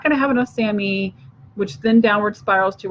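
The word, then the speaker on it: SAMe: is Sam II and you'll see that written as all caps SI m and then a lowercase e and it's called Sammy is how you say that and the Sammy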